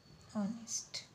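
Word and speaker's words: honest: Okay, तो ये हो गया हमारा एन, ऑनेस्ट। ओके, तो ये राइट है, ये रॉन्ग है, क्योंकि जो फर्स्ट लेटर है वो साइलेंट है, वो ह का क्रिएट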